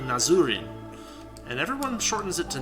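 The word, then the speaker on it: Nazrin: nazarin is that um if you actually look at the way that her name is written in Japanese it's actually nazuri and everyone shortens it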